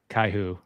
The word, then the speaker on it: Kaiju: Kaiju numero oo yeah I watch it in Spanish it's pronounced caiu yeah I don't know